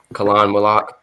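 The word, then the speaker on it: Khaman Maluach: Like so I guess number five you would label the center from Duke Khan Milak.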